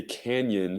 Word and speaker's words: Canyon: let's go to Isaiah Canyon I believe that's how you pronounce it yes like the grand what are you doing